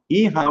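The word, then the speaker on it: ईहा: Iha with a long I and an A means activities, or in this case, pastimes.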